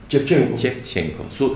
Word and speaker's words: Shevchenko: Algo que me llama la atención de ella, ¿su apellido cómo se pronuncia? Shevchenko.